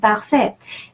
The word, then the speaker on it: parfait: And AI is a rule of pronunciation in French, and it's pronounced E. And the final T is a rule of thumb. The final consonant is silent. Parfait.